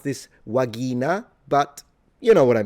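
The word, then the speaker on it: vagina: The V is a W and the G is a G. So, pronunciation is a little different. Uh, you would pronounce this wagina, but you know what I mean.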